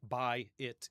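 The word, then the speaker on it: בית: And so, you know, buy it kind of sounds like buy it in English.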